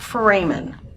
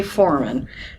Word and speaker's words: foramen: The holes are called foramen. Some people say foramen. Doesn't make any difference wherever you put the syllable, right?